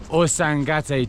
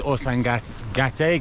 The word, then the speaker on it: Ausangate: It's called the Osangate Trek. I've said it wrong multiple times. I think I've got it right now. I think it's Osangat Gate. Gati.